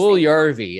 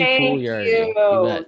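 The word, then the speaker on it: Puljujärvi: Puljujarvi. It's a fun one. Jesse Puljujarvi.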